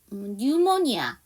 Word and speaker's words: pneumonia: 그 다음에 pneumonia. 자, 이거 P 사운드가 묵음이에요. 그래서 pneumonia인데 pneumonia가 바로 폐렴.